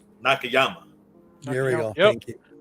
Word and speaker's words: Nakayama: of davey nakama no i always say his name wrong david nakanoma nakayama here we go thank